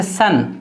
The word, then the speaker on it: son: कुछ मिसालें यहाँ पर है, जैसे सन, देखिए सन को यहाँ पर क्या पढ़ रहे हैं? आ, SON सन, सॉन होना चाहिए लेकिन आ पढ़ रहे हैं, सन सन।